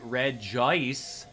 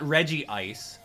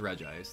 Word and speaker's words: Regice: So this is going to be Regice, not Regice, which I know some of you guys like to pronounce with a double I. No, it's just Regice.